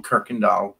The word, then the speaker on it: Kuykendall: only bs about half i do pronounce my last name kirkendall like that's what i like about english you can spell it anyway and pronounce it even in a totally different way exactly so krikandal okay